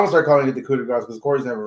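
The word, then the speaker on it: coup de grâce: The coup de grace that he hit, I thought it was gonna be over, and then it wasn't. Coup de grace, the S apparently is pronounced.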